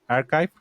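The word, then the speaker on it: arXiv: a primeramente a este archive o Archip se escribe con X, así Arsip.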